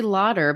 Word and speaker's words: Lauder: Now, some people don't know that they probably call you Laughter because your last name is spelled like laughter. I'm sure you get that quite a bit. It is. It's actually Lauder, but I'll respond to laughter.